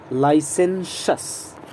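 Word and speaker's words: licentious: ध्यान रहे, प्रोनाउंसिएशन पर ध्यान दें. लाइसेंशस, तालव्य श. ओके, यहाँ से तालव्य श. लाइसेंशस, तालव्य श एंड दंत स. लाइसेंशस, this is the correct pronunciation.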